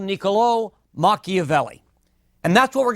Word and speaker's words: Niccolò: first name is mispronounced you've got an accent on the last oh and that means it's Niccolo rather than Niccolo so niccolò machiavelli is going to